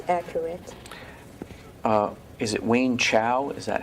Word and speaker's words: Wayne Chow: Is it Wayne Chow? Is that how it's pronounced? 温潮。 Yes，温潮。 Wayne Chow.